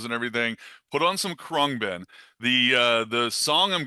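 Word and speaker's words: Khruangbin: And I you've I think you've uh you've heard me talk about this band before, but their the pronunciation of this band is Kungbin.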